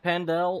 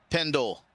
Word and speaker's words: Pendle: Is it Pendel or Pendle? Pendle. Pendle, so I've been saying it wrong all race.